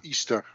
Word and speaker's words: Ishtar: Of Easter, zoals we eigenlijk zouden moeten zeggen. Ja. Ishtar wordt het geschreven, hè? I-S-A-T-A-R. Ja, ja. Maar het wordt Easter uitgesproken.